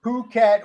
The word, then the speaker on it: Phuket: ] it as well I actually looked it up for this story and it's Phuket with the uh emphasis on the second syllable no wait nobody ever